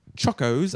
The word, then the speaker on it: Chocos: Just a tip that chocos are pronounced like choke.